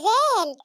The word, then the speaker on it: ذال: وبابا وماما في البيت لازم نخرج طرف لسنه لما نيجي ننده عليه بنقول له زال زال زال زال احنا الاتنين